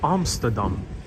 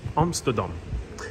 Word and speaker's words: Amsterdam: So for anyone who wants to get more of a perspective of Amsterdam, I'm going to try to pronounce it the Dutch way. Amsterdam. Amsterdam.